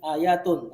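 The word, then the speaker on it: آيَةٌ: Yang benar bertanwin, ayatun.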